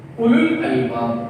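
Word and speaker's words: أولو الألباب: പറഞ്ഞേ ഇവിടെ ഊന്ന് കിട്ടരുത്, ഉലു എന്നേ പറയാൻ പാടുള്ളൂ.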